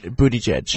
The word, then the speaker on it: Buttigieg: discussing a Pete bootie judge how do you pronounce a bootie good bootie judge okay so I'm okay Steny started Hoyer Steny